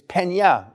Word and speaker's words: Peña: Uh uh I don't know how to say this exactly, but your name isn't Penna, is it? Nope. It's Pena.